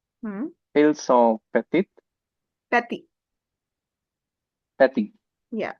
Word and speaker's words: petits: petits petits Yeah, we don't change the pronunciation because of the S.